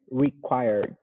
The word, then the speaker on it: required: say required okay required i wouldn't pronounce the the e um quite uh like the letter e but almost there more like required required required yeah and you want to emphasize the second syllable required required good okay